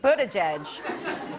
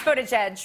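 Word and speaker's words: Buttigieg: south bend indiana pete butterjudge hi no it's it's footage edge right am i pronouncing that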